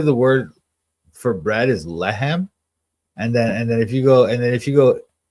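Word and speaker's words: לחם: But it's not even like, look, if you wanted to say my bread, you would say lehemi. Lehem is how you say bread. You don't say lami.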